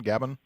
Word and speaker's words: Gabon: Is that how I pronounce it, John? Gabon?